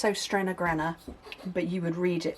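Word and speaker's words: Søstrene: If you're interested, these are from a company called, it's pronounced Sostrena, but you would read it as So Stream Green.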